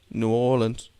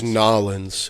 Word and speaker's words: New Orleans: right I love it New Orleans nollans you didn't say it right that's nollans ask the locals all right